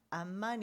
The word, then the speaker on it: 암만: 수도 가 암만 이거든요 암만 의 바로 영어 발음으로 암만 이라고 하고 성경에는 암몬 이라고 해요 같은 말이 돼요 고대 국가의 램이 바로